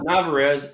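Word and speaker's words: Narváez: Navarez.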